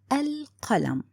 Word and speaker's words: القلم: I said القلم.